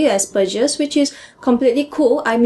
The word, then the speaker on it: Asperger's: just said, you're using Asperger's with a soft G, Asperger's, which is completely cool. I'm using it with a hard G because I'm pronouncing it the way the German name would originally be pronounced, but I think both are cool.